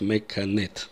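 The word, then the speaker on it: מקנאת: она завидует менет менет Я знаю что часть израильтян произносят неправильно но мы будем говорить менет так правильно менет завидует или ревнует в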